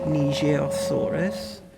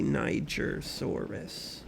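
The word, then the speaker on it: Nigersaurus: Here is the nijosaurus. This is a French one, but uh I that's what they pronounced it as in Jurassic Peak, but I think phonetically English speakers might call it a nigerosaurus.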